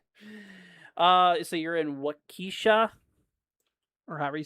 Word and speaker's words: Waukesha: Walk Eshau. Waukesha. Wait. Walk Waukesha. No, Waukesha. That's how you say it.